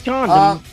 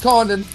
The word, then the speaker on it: Condon: I thought it was condom. No, it's Condon.